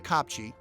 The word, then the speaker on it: kopje: Another full-time resident of the kopje, that's spelled Kopje, is the klipspringer, one of the small antelope.